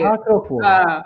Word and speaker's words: Sacro Cuore: Qual é a pronúncia correta del Sacro Cuore? Cuore. Sacro Cuore.